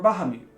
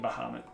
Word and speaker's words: Bahamut: the king of dragons Bahamut or baham or Bahamut depending on how you pronounce it for the longest time like all my life it was baham and know then I became Bahamut once I you know think I realize what it is so you go